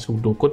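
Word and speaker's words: pseudocode: digunakan adalah yang pertama subdokut jadi subdokut itu bacanya sudokut Ya jadi huruf b nya gak kebaca sudut code ini bentuk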